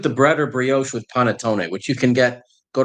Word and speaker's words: panettone: Here, I'm gonna not pronounce that right. Pantenone, bread pudding. Panettone. Yes. Panettone.